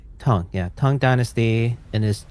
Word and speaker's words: Tang: And is it Tang Empire or is it Tong Empire? Tong. Tong. Okay. Tong.